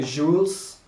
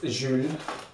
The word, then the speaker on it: Jules: mom and thought and I thought it was actually jewles um pronounced in a English way however it is a French brand so it is Je and I bought a